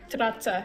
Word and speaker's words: Strazza: Strazza, yeah. The two Strazza? Z's make like Strazza. The two Z's make a TS sound. Mamma mia. Yeah, Yeah, what it's do Italian. It's Italian.